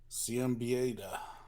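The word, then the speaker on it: Siembieda: And yeah, so it's another system designed and written by Kevin Simbida. How do you ever say his name, Pat? Do you know? Ciambieda.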